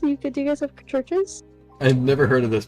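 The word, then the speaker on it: Church's: Uh like churches like how it's pronounced.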